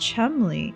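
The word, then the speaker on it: Cholmondeley: Yeah, it's a weird English name. So it's pronounced Chumley.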